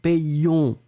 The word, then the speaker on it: payions: On doit faire la différence entre nous payons au présent de l'indicatif et nous payons qui doit être légèrement plus long.